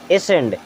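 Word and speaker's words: ascend: अब यहाँ पर सी साइलेंट तो ASEND, एसेंड।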